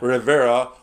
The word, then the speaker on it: Rivera: Rivera on your notes on PayPal, and if you